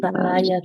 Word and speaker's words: paya: Solamente el 2 se pronuncia así de simple, se pronuncia como paya, ¿ya?